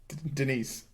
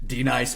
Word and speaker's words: Denise: Say your name correctly. Denise. Say it right. Correctly. D-Nice. Thank you.